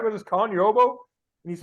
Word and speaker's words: Ogbo: he said he he was just getting called oboe and I said hey are you all right with this Colin you're oboe and he's like oh yeah that's my name